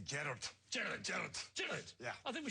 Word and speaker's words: Gerard: And in Scotland, they never say Gerard. No, they say Gerard.